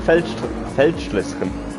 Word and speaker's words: Feldschlösschen: That's pronounced Feldschlösschen. Feldschluss.